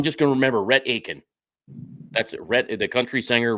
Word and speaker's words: Aitkin: So now my mom tried to tell me how to pronounce it, Aitkin, and I'm like Atkin, and it's Aitkin, right? Is the T kind of silent? It's Aitkin. Yep, it is Aitkin, Minnesota. That is the way to say it.